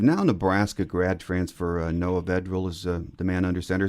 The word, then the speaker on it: Vedral: Nebraska grad transfer Noah Vedil is the man under center. Is that how you pronounce his last name? Vedril. Vedral. Correct.